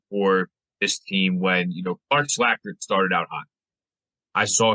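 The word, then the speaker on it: Slajchert: Slackard. Like that name. All right. So they bring back Max Martz, Clark Slackard, Nick Spinozzo, and George Smith.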